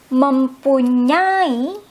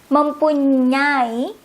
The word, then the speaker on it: mempunyai: Saya, I, tidak, no, or don't, mempunyai, have, I will repeat, mempunyai, I don't have any other, I will say it as how you say it, kanye, the eng there, mempunyai, have, it's like how you say it, kanye.